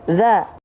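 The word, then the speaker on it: ذَ: Maka zalnya di sini dibacanya za. Ya, oke, bukan zi, bukan zu.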